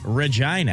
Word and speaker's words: Regina: because it was Rhymes Regina. with, Regina rhymes with fun, Yeah.